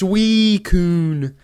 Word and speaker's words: Suicune: Or like the 2 million comments of people saying, hey, you didn't pronounce Suicune right. It's pronounced Suicune.